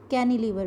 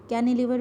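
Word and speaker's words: cantilever: Next bridge है कैनिलीवर bridge. T इसमें silent है बेटा. कैनिलीवर bridge, they support the load through diagonal bracing.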